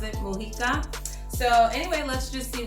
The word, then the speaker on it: Mujica: and it's by Barbara Mujica that's how you pronounce it Mojica so anyway let's just see what this is